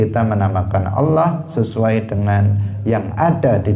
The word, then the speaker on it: Allah: Misalnya seseorang menyebut lafzul jalalah Allah, dia menyebutnya misalnya dengan memendekkan lam di tengah yang harusnya panjang. Harusnya Allah, dia mengatakan Allah. Maka ini adalah ilhad. Kenapa? Karena dia membacanya dengan tidak benar. Harusnya dia yang lain pendek kecuali lam di tengah harus dipanjangkan, Allah.